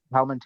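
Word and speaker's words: Palminteri: Uh, singer wanted uh Palment Terry. Yeah. Kuan from the beginning, but he wasn't available. Then he had an opening in the schedule. Uh, but Palment, is that am I saying the name right?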